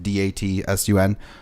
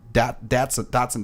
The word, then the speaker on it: Datsun: Datsun, it's spelled like D-A-T-S-U-N, pronounced Datsun, I guess.